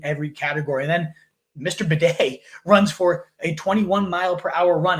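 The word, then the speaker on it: Badie: interview where he said, I want to be called Tyler Bidet now. He changed the pronunciation of his name.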